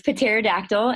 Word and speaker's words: Pterodactyl: get to see pterodactyl we pronounce the petite P in potato for record so it's Patera dactyl and she's a special-needs